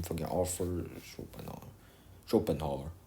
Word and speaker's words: Schopenhauer: Schopenhauer. Right, that's how you pronounce it.